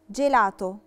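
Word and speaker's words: gelato: دولتي عشان وراها ايه لافوكال ايه فبقت جاما جيلاتو نفس القاعده ايه نطقتها جيلاتو جيلاتو اللي هو الايس كريم جيرافا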